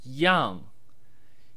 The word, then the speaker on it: 样: brief video is about the basic chinese word Yong Yong pronounced in the sharp descending fourth term which